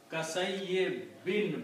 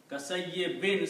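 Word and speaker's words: كَصَيِّبٍ: So this is kasayye bin, by itself is bin. Kasayye bin, sound of noon. Okay, so the word is kasayye bin. Okay. Kasayye bin. So this is the sound of noon.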